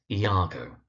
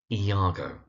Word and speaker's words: Iago: Now, the second character on this list is the one whose name is most frequently mispronounced. Now, his name is Iago. That's Iago.